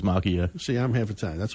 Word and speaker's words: Macchia: It's kind of a long story, but I grew up pronouncing it Macchia. Macchia. But the correct Italian way is Macchia.